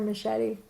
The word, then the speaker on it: Mascetti: It could be Mascetti like the knife. That's the official name, but people Americanize it Italian? as Mascetti. Yeah. Oh, really? I prefer Mascetti.